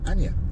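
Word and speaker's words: Aina: So hopefully we're going to bump into Sir Dave, and of course his girl, Lady Anya. I think that's how you say it, A-I-N-A.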